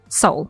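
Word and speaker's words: Seoul: I'm just getting the pronunciation guide because I keep messing it up. Soul. It is soul.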